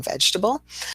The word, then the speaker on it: vegetable: Of course, our middle E is dropped in vegetable.